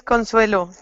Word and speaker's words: Consuelo: yes I thank you how do I say your name and my name is Consuelo Consuelo that's easy now that I know how